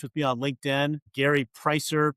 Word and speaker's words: Preisser: free to connect with me on LinkedIn, Gary Pricer, P R E I S E R. It doesn't look like it's pronounced, but that's how it's spelled.